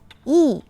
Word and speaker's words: 义: virtue and the Chinese word for it the pronunciation of this word is e the traditional form of this character is written